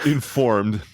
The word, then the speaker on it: InXformed: noticing, it's entitled InXformed, which I think the X is silent, as in InSequel. Like the P in swimming. Exactly. So it's Informed, the InSequel User Group Conference.